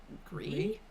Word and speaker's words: Gris: I've heard it pronounced as Gris, but I'm assuming it's like Gree.